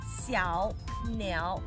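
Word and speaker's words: 小鸟: And second word, niao, third tone, niao, xiao, niao. But when you say it, they are together. So the first tone would be the second one. What, xiao, niao, xiao, niao. Oh, by the way, there's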